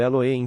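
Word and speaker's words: Elohim: A palavra Deus Eloim pronunciado Eloim, que é uma unidade composta de um feito de muitos.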